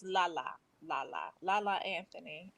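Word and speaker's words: Lala: to let you know it's not layla it's la la la la la la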